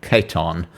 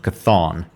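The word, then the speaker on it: C'tan: Uh, I don't think this is how it's pronounced. Keton. It's not Cathon.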